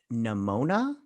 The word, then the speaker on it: Nimona: movie they were working on was called uh nimona is that how you say it that's how